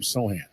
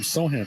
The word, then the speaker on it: Sochan: No C, so we'll call him Sohan for the sake of argument. Sounds much more exotic. He is number 10. He's wearing green hair. He's got tats. Here's Sohan to the free throw line.